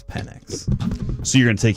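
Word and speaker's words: Penix: Why does Kevin keep calling the Falcons quarterback Penn and not Phoenix? Is the biggest city in Arizona not called Phoenix? True, not Phoenix. That is an interesting point that I had not really considered whatsoever, but I think Michael himself says it's PennX.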